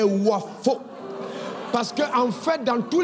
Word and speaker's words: Wafo: J'ai dit, assurez-vous simplement qu'ils prononcent bien mon nom. Ils n'écrivent pas Wapo, mais Wafo.